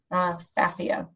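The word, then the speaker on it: Pfaffia: and it's Phaphia paniculata, but it starts with a P. The P is silent. Phaphia.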